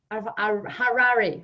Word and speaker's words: Harari: this session with John Harari. I'm sorry, John, help me with the pronunciation of your name. It's like Ferrari, but with an H. Okay, like Harari.